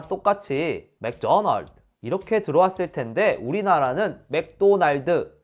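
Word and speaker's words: McDonald's: 이것도 이상한 건 똑같아요 원 발음은 맥도널드 이렇게 2음절로 발음되어 그런데 우리나라는 맥도날드 음절로 발음 되잖아요 못 알아들어요 우리가 자연스럽게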